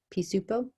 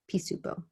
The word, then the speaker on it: Pisupo: also want you to write how to pronounce it pisupo pisupo p supo okay let's talk about